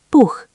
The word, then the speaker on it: Buch: Hard ch, Buch, book.